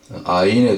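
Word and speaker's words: עין: 가운데서 16 번째 순서인 아인에 대해서 같이 공부해 보도록 하겠습니다 숫자 값은 70이 되겠습니다 앞에 보이는 글자가 아입니다 한번 따라해 보시겠습니다 아인 예 이렇게 발음하고 전체 히브리 알파벳 22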